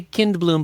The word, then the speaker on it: Kindblom: Yeah, spelled just like it sounds. I say Kindblom, but it's spelled Kindblom.